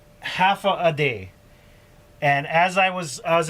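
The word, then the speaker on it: Håfa Adai: just sounds like this half a day half a day you say it just like that like half a day all right that's how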